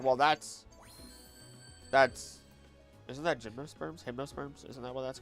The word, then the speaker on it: gymnosperm: Also, isn't it like hypnoserm? Am I Am I pronouncing it wrong? Gymnosperm.